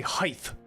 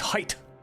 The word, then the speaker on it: height: They say height instead of height. It's height. The T's at the end.